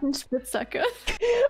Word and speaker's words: Spitzhacke: Buddy, say Spitzhacker.